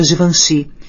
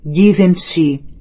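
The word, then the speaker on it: Givenchy: Ela não tinha ficado exatamente entusiasmada quando lhe mostrei tudo que tinha encomendado da Givanhi e acidentalmente pronunciei como lia em inglês: Given te.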